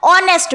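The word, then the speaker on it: honest: क्योंकि जब आप ऑनेस्ट का उच्चारण करते हैं, उसको प्रोनाउंस करते हैं, तो आपको क्या सुनाई देता है? ओ की आवाज आपको सुनाई देती है। एन ऑनेस्ट मैन यहां पर एच जो है वो साइलेंट हो जाता है।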